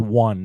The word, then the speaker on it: one: why does the word one not have a W in it?